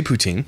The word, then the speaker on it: poutine: I mean, you can say poutine, sure. But it's not. And he's all confident like he's saying it right. It's not. It's poutine. Poutine. So imagine the word poo and the word tin. Poutine.